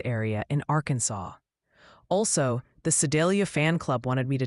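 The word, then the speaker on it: Sedalia: Also, the Sidelia fan club wanted me to tell you it's pronounced more like Sidelia.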